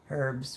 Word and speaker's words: herb: Us people in the States say herbs for the H silent. Thank you, Erin. Yes, we do. I always say herb because I was always taught the H is silent.